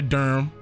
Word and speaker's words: Durham: to Durham I said Durham I went to Durham that that's how it's pronounced Durham North Carolina Durham is beautiful but it has